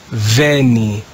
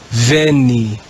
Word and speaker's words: veni: would have been read in church latin it's read as veni venni we've now looked at